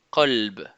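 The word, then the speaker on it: قلب: Par exemple, colbe qui veut dire cœur. Si j'utilise pas ces lettres de façon emphatique, je dirais kelb.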